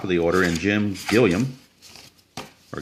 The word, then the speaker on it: Gilliam: And now we're back to the top of the order in Jim Gilliam. Or Gillum. I think it's pronounced Gilliam. I'm not sure.